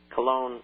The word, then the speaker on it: Cologne: Germany that's how it's pronounced in English in Cologne in German is pronounced Kon